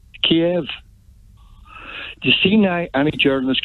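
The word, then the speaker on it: Kyiv: we call it moscow the ukrainians call it cave yeah the west we in the west and the united kingdom in america call it kiev you see now any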